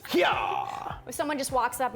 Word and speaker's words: Hyaaah: So that's the proper pronunciation is Hyaaah.